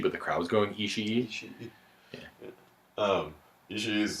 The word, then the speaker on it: Ishii: Tomohiro Ishii? The Ishii. Ishii's probably fought almost. Is that how you everyone.